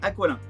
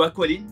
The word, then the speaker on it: Aqualin: Allez, on démarre avec Aqualin ou Aqualine, c'est comme vous voulez. Chez Yellow, ils n'ont pas su me dire laquelle des deux était la bonne prononciation, donc les deux sont valables.